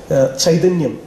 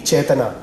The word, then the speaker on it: Chaitanya: I'm sorry, it's a Malu pronunciation of the Sanskrit word. Okay, Chaitanyam, in Malayalam we call it, definitely Chaitana, the Sanskrit word.